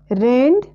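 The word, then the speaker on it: read: तो रीड के first form second form और थर्ड फॉर्म तीनों में स्पेलिंग सेम ही रहेगा, सिर्फ प्रोनंसिएशन चेंज हो जाएंगे। तो इसके सेकंड फॉर्म और थर्ड फॉर्म में प्रोनंसिएशन रेड होगा, रेड नहीं होगा रेड होगा, और फर्स्ट फॉर्म में रेड ही रेड पढ़ेंगे, सेकंड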